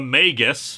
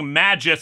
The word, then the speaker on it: Magus: the title The Magus I am using this pronunciation under protest after the last time you all said it goes like that I still think Magis sounds better after all we don't pronounce magic magek now do we this is GIF